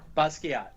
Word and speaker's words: Basquiat: no, Basquiat.